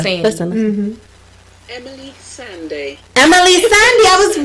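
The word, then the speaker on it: Emeli Sandé: Emily Sandy, I was right.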